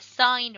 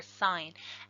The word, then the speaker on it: sine: and they are the sine ratio so sometimes mispronounced sin because it's as i-n but that's just short for sine as I and so the sine